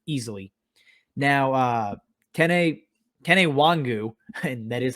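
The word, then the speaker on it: Nwangwu: lead guy here easily now uh ken a kenny wangu and that is how you pronounce it i'm gonna say it every time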